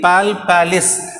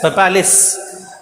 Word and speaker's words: palpalis: Okay, see the spelling, palpalis, but we have to pronounce it as papalis.